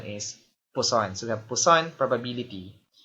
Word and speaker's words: Poisson: Nung una, ang basa ko rin dyan ay Poisson. So, medyo parang mapanganib ka ako tong probability na to. But, the correct pronunciation is Poisson.